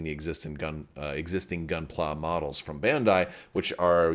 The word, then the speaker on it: Gunpla: to talk about this on camera is it Gunplay but apparently it's pronounced gunpla which is more for like Gundam